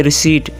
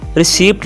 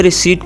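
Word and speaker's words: receipt: रसीद को इंग्लिश में रिसीट कहेंगे, रिसीट। इसको आप रिसीप्ट नहीं कहेंगे, रिसीट कहेंगे, पी साइलेंट है।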